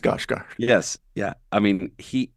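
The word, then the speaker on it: Skarsgård: of stellen scarg guard of stellen scard I believe it's pronounced scos guard yes yeah I mean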